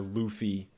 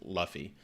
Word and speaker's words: Luffy: So we got a Luffy poster, or Luffy, I guess is how it's pronounced. Whenever I read it, because I read the manga, whenever I read it, I read it as Luffy. But I guess it's Luffy.